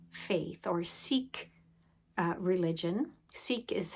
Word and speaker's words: Sikh: Sikh is how we normally pronounce this word in Canada.